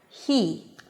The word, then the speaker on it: he: Notice that the first he was pronounced with an H. He. Now, because there is a high E right after, you really hear the air passing between the tongue and the upper pallet.